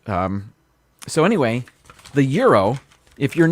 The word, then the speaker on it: gyro: very nice but uh you pronounce this uh without the g really a gyro um that's the way uh we gringos say it um so anyway the euro if you're not familiar